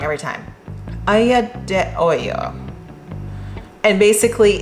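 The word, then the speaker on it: aglio e olio: You can make, there's an Italian dish called, I say it wrong every time, aglio de olio.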